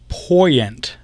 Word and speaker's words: Poyent: just in case, guys, my last name is pronounced Poyent. Poyent. Okay. Wait, hold on. He just typed it. How do you know that it's pronounced that way? He wrote Poy, capital P-O-Y, okay, dash E-N-T.